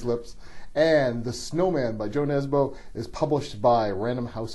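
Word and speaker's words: Jo Nesbø: I've been speaking with either Joe Nebo if you want to use the North American pronunciation or you nezu if you want to use the Norwegian pronunciation which I probably have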